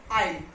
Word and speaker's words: isle: Okay, so S, the words are this island, debris and isle.